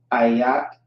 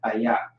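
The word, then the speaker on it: איך: Ayak is how you pronounce that. Ayak.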